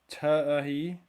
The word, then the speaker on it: Tai: It's a Oh, Tai, your name is pronounced Ti.